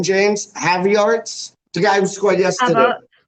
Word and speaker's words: Havertz: Havertz? The guy who scored yesterday. Havertz.